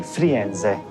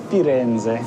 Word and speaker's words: Firenze: Once you go to Florence, you say Firenze. Firenze. Firenze.